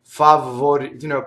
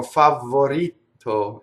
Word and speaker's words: favorito: So double V, favorito, people go favorito and double the T and double the V. So the way to do it is not think about the consonants in this. The consonants will still be sharp, but the vowels are long. So if you isolate the vowels, A, O, I, O, and then you do them very long, A, O, I, O, and now you add the consonants, favorito.